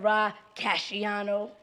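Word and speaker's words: Rah Cashiano: Ra Casciano.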